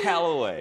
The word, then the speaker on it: Callaway: Literally, a call away.